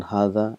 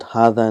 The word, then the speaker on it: هذا: So we've learned that hadha and dhalika is one of those words where it is pronounced but it is not written.